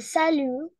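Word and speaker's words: salut: у нас не читается салю буква Т не читается буква с Здесь тоже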